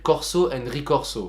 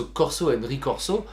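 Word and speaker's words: corso e ricorso: Alors, je le prononce très mal parce que normalement il faudrait le prononcer en italien, mais comme je ne suis absolument pas italien, je le prononce à la française, et qui explique justement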